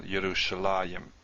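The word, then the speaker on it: ירושלים: There's a few cases we do see a yud here, but it's pronounced still Yerushalayim.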